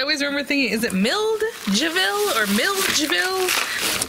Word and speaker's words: Milledgeville: Because I always remember thinking, is it Milledgeville? Or Milledgeville. It's spelled M-I-L-L-E-D and then G-E-V-I-L-L-E. So like Milled, the G is right after the D, So anyway, this little pair of socks is just kind of out here.